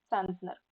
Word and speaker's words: центнер: одиниці вимірювання на метр але є слово центнер Так це також одиниця вимірювання центнер на перший склад наголос так трошки відпочиваємо і